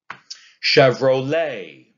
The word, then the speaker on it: Chevrolet: Chevrolet. Chevrolet is an anapest.